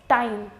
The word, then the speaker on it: time: have here that's I when I am adding e at the end it becomes time Tim time in both the cases the sound of e was made longer and you're not going